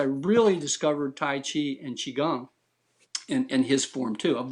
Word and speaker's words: Qigong: And I'm saying Qigong because that's how you pronounce it. Everybody sees Qigong. It's like Gunk, Qigong. It's like Okay. Qigong. And that's the real pronunciation.